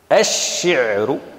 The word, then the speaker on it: الشعر: قالوا لام التعريف، فلام التعريف نقول الشمس، الشعر، فأضغمنا لام التعريف في الشين.